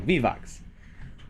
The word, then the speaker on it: Vivox: Vivox. It's gonna haunt me. I think I'm the one who said it should be Vivox, right?